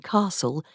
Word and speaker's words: castle: The pronunciation of t in castle and the ul in wood also disappeared.